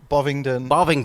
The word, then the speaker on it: Bovingdon: Bovingdon.